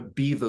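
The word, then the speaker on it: Beva: uh board with a beaver glue which is spelled b-e-v-a um you can get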